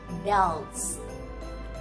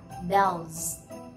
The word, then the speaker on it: bells: âm cựu thanh nên s này sẽ đọc là z. Và mọi người chú ý này, âm L, L chúng ta sẽ đọc là bells, bells, bells.